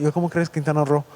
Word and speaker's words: Quintana Roo: Yo, en inglés, ro, como se escribe aquí, R-O, en inglés es rue. Entonces yo, como un gringo, por muchos años la pasaba diciendo costó? Quintana Roo. Y todos, no, es Quintana Roo.